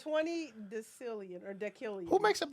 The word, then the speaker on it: decillion: decillion, I like that because it rhymes with billion and million.